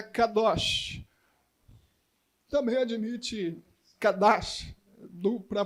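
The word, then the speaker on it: קדוש: a palavra em hebraico para a santidade é Kadosh também admite cadarço do para pronúncia mas eu gosto mais dessa aqui Kadoshi mais bonitinha ela aparece no texto em hebraico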